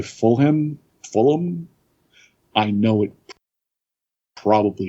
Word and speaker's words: Fulham: i i would say fulham fulham i know it probably is not pronounced anything like that i think it is full but yep fulham no you don't say full ham you say fully oh i would say